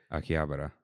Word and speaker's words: Akihabara: Uh, we went to Shabuya, Shunuku, Aki, Habar, Habra, or Akibara, I don't know how you say it. Akihabara.